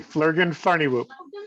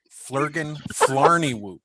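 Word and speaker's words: Flurgin Flarneywoop: flergan flarny whoop okay fleurgen farnywoop no no no fleurgen flarny thank you yes f-l-u-r-g-i-n f-l-a-a-a-r-n-e-y-w-o-o-p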